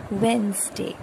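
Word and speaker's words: Wednesday: एक चीज़ नोट करने वाली है, हम इसको लिखते वेडनेसडे है पर इसमें डी साइलेंट है, डी की आवाज़ नहीं आएगी, आप इसको बोलेंगे वेंसडे, वेंसडे।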